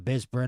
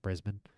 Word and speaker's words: Brisbane: And fighting out of the blue corner, hailing from Bispin, Australia. The crowd gets louder even though I mispronounced Brisbane.